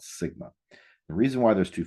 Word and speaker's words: sigma: And whenever we do a standard deviation for a population, we use a Greek letter that represents S, and it's pronounced sigma.